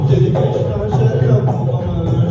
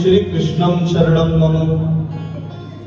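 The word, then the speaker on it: श्रीकृष्णः शरणं मम: सेय उच्चारण करवाया श्री कृष्णा शरणम मम कुछ लोग बोलते हैं श्री कृष्णम शरणम मम कुछ बोलते श्री कृष्णा शरणम मम सही उच्चारण शु उच्चारण मंत्र का होना बहुत जरी है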